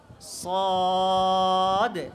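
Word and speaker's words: صاد: ঠোঁটের দিকে তাকাও সদ সদ বলে এভাবে ঠোঁট গোল করা যাবে না সদ সদ সদ সদ সদ সদ সদ সদ সোয়াদ নয় কেমন সোয়াদ বলা যাবে না কি বলতে হবে সদ সদ এরপরের হরফটাও কি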